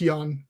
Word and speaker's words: Ian: Yeah, it's spelled like Ian, I-A-N, but it's pronounced Jan. Jan, okay.